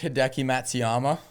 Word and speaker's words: Matsuyama: So just for the people so that they understand, Tanner's picked Hideki Matsuyama. Yeah, okay, Matsuyumi. That's what I said. Interesting pronunciation, but I like the pick.